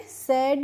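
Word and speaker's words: said: सेड ही पढ़ेंगे। तो देखिए एस ए डी और एस ए आई डी दोनों का ही प्रोनाउंसिएशन क्या होगा? सेम होगा।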